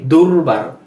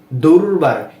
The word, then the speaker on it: দুর্বার: যেমন এই যে আমরা পড়ছি দুর্বার। দুর্বার, এখানে কিন্তু কোনো র নেই, কিন্তু এই যে বয়ের উপর রেফ থাকার কারণে এই বয়ের পূর্বে র এর মতো একটা উচ্চারণ আসবে। দুর্বার।